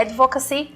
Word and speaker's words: advocacy: entende que é isso a palavra inglesa a pronúncia correta seria a advocacia mas aqui nós temos uma brasileirada né e falamos de advocacy pode voltar a ser